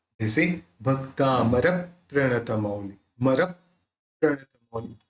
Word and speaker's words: प्रणत: यहाँ पे प्र है, प्र के अंदर यानी प में आधा र मिला हुआ है, तो आधा प इस र के साथ जोड़ के बोलना है। तो भक्तामर प्रणतम, इस तरह से उसका प्रोनाउंस निकलेगा। अब सलंग बोलेंगे भक्तामर प्रणतमौली